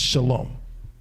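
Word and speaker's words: שלום: today right they say they don't say ah salawah malaykam they say a salam because this is the word that it comes from there is no wah it's shalom all right so then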